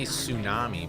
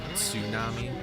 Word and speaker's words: tsunami: We say tsunami, but it's actually like tsunami.